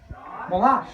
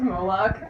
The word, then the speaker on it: Moloch: Molash, Molash, nightmare of Molash. Molash, the loveless, mental Molash. Should we call this pronounced Moloch?